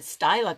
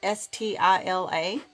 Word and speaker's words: Stila: this deal a styler always called it styler cuz it's spelled STI LA but someone said it was Stila but they're kind of